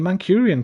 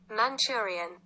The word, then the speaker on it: Manchurian: The Mancurian Candidate, right? That film. Or am I mixing it with Mancunian? Maybe. Mancurian pronunciation. Who's right? Me or him? Manchurian. He's right. I'm wrong.